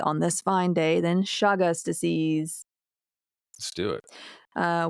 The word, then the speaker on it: Chagas: five specifically being most important in context to shagas disease. Um and it's c h a g-a but it's pronounced shagas disease.